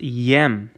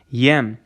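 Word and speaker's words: եմ: it's the conjugated form of allah okay is pronounced yem okay yem that's that's spelled with a yetch and amma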